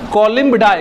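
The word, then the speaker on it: Columbidae: हम लोग बोलते हैं कोलिम डाई क्या बोलते हैं कोलिम डाई कुछ स्पेलिंग ये हो जाएगा सी ओ एल यू एम बी आई डी ए ई इसको पढ़ेंगे हम लोग कॉलम डाय हिंदी लिख देते हैं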